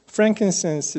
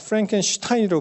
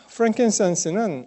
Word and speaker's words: frankincense: 이 gold 그리고 frankincense 이렇게 얘기하고요. myrrh 그렇게 얘기하는데 어떤 분은 이 frankincense를 잘못 발음해서 frankenstein으로 발음한 사람도 있었어요.